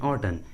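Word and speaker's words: autumn: Solan and ऑटन, यहाँ पर एम का आवाज़ नहीं आ रहा है।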